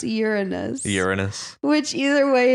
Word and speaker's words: Uranus: But I've also heard it pronounced Uranus. Uranus. Which either way, it's urine. Yeah. But if we pronounce it like they have it in Greek, it's Uranos.